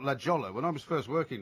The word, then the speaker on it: La Jolla: La Jolla, California. La Jolla. It sounds like Hawaii, doesn't it? It does. Aloha, You know, it's La spelt Jolla. it's spelt La Jolla.